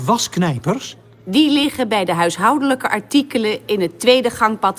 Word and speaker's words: huishoudelijke: Nah, ini bacanya adalah huishoudelijke. Bukan huishoudelijke, bukan. Tapi huishoudelijke. Gitu.